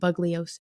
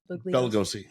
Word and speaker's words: Bugliosi: Vincent, and pardon my pronunciation of his last name, Bugliosi. Bugliosi.